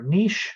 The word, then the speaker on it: niche: ecology, actually, because we often talk about the niche or niche, some people pronounce it, of an organism.